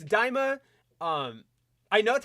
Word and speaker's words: Daima: Yeah, it's Daima. I know that's how it's spelled.